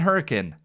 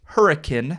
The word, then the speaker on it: Hurricane: And yes, if you are not from the area, it is pronounced Hurricane, not hurricane, though it is spelled like hurricane.